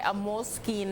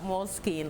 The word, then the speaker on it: Moleskine: stuff really yeah yeah moleskine like mole and then s k i n e okay yeah